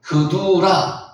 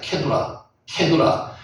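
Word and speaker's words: קטורה: 그두라. 실제 발음은 케두라입니다. 케두라.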